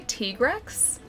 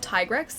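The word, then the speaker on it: Tigrex: April DLC pack, and they say they say Trex. So, not Tyrex. T-Rex.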